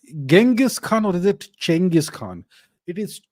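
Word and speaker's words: Chinggis Khan: Khan or is it chenis Khan it is chenis Khan that's how the Mongol say it look it doesn't matter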